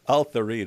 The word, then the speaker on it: Tharid: Yeah, she's like Al-Tharid rhymes with Farid.